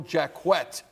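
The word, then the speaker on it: Jacquet: by the name of Michael jaquet we understand that is the official pronunciation of his name the defensive back for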